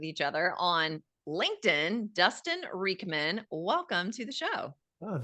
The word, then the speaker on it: Riechmann: Well, just so the audience knows, I had to ask Dustin, how do I pronounce your name? And he said Riechmann.